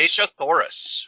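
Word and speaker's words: Dejah Thoris: Deja Thoris.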